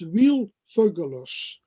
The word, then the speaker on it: Wiel Veugelers: this interesting series and let me say first my name and dutch because i know okay difficult to pronounce for for foreigners my name is real fergulos okay okay i'm learning